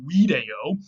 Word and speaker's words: video: from a Latin word video. By the way, V's in Latin were always pronounced W in the classical period.